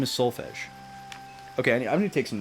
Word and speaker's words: Solfege: They're like, is her name Solfege? Solfege? Solfeg? It's Solfege. People like to be the